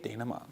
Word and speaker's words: Dayna Mont: Here to tell us all about some of her favorite pieces is DJ Dayna Mont. Hi. Very good. You pronounced it correctly.